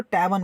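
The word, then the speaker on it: tavern: ई आर एन में are silent इसको ट वन बोलते हैं क्या बोलते हैं ट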